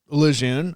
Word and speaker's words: Lejeune: So I watch a lot of IMCA TV and and some other stuff and and I and I saw your name and it's Lun.